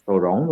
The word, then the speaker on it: Toronto: How did you how did you how did you pronounce Toronto? It's Toronto.